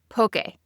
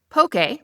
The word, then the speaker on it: poke: list with the real MVP of Hawaiian cuisine, pokey. If you've been to Hawaii before, you already know this dish is everywhere and for good reason. Pokey, which is pronounced pokey, not pokey, not poke, is basically cubed raw